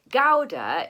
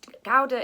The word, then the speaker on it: Gouda: cheese as you know i think the pronunciation is something like powder we don't really have an equivalent for that g sound in english um it's the gowda is a city in